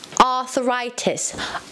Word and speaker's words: arthritis: say it with me arthritis arthritis the stress is on the th sound kiwi the stress is